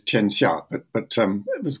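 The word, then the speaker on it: tianxia: all about yes um the pronunciation if I may is cha but but um it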